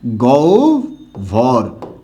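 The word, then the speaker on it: গহ্বর: তাই এখানে অ আছে আর অ থাকলে উচ্চারণটা কি হবে ওভ হবে তখন এটার উচ্চারণটা কি হবে গৌ ভর আশা করি সবাই পুরোপুরি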